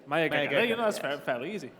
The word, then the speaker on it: Mayageka: Right, let's get the pronunciation down straight away. Mayageka. Mayageka.